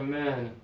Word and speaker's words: men: give me man good open up more a man good and now this one teeth together men really good job when